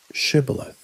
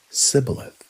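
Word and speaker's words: shibboleth: we asked him to say one word, shibilith. It sounds simple, doesn't it? A word. But Ephromites couldn't pronounce it right. They would say cibilith.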